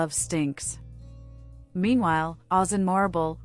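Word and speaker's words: Morrible: Meanwhile, Oz and Marrible, rhymes with horrible, target the fugitive Alphaba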